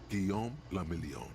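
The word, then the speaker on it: Guillaume Le Million: Guillaume la Million. Guillaume la Million. Okay. If it doesn't rhyme, you're not pronouncing it right.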